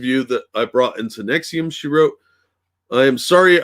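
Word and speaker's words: NXIVM: stuff the cult operated using nixium pronounced nexium whatever as a front claiming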